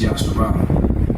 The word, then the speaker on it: Yahawah: The proper pronunciation of it is Yahawah, all right?